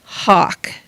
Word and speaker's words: Haak: uh name um was Hawk Jr um and Hawk is spelled h a a k he was a sergeant